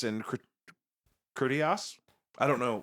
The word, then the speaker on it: Critias: Is it Timaeus and Critias? I don't know. Timaeus and Critias, Yeah, great.